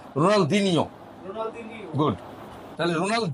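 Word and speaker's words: Ronaldinho: রোনাল দিনিও রোনাল দিনিও দিনিও দিনিও এইটা উচ্চারণ পর্তুগিজরা করেন পর্তুগিজরা এই উচ্চ এভাবে বলে রোনাল দিনিও রোনাল দিনিও গুড তাহলে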